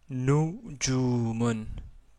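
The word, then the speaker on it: نجوم: Donc j'ai prononcé nujumun. Donc, la première son que vous entendez, c'est nous, marqué ici en rouge.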